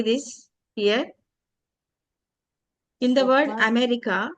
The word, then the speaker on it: America: in the word America, see the first and the last A sounds here. One A is there, another two A letters and they both of them should be pronounced as Awa. America, America, America.